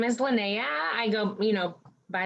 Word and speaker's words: Linnea: names so what's your name my name is lynnea i go you know by lynnae beautiful